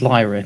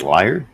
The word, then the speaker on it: Lyra: thank you thank you my name is Lyra don't call me Lord please I I hate I hate the word your name is liar lidra would you like me to spell it out for you darling we're gonna get killed Lyra would you like me to spell it out for you boys no worries it is l-y-r-a and this is how you spell my name Lyra yeah thank you you